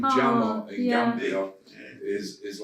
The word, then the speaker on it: Jammeh: The name Jammeh in Gambia is like Smith. Oh, okay. Or Jones. Yeah. It's actually pronounced Jammeh.